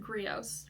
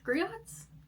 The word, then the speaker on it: Griots: And I just love a really good book with Grios. Griots. Grios. I think it's pronounced Grios. I think the T is silent, right?